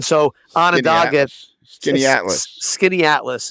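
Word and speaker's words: Skaneateles: on a dog gets skinny Atlas is how the locals say it yep skitty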